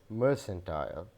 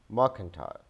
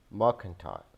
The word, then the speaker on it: mercantile: This is pronounced as mercantile. Rather, this is mercantile, mercantile, mercantile.